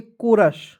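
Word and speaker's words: chorus: एस क्या पढ़ेंगे दोस्तों इसे पढ़ेंगे कोरस चौरस नहीं पढ़ लीजिएगा क्या पढ़ेंगे सी एच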